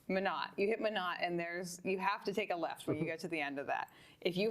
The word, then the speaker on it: Minot: Menahut. I always say it incorrectly. That's how I've been informed it's pronounced. Minot.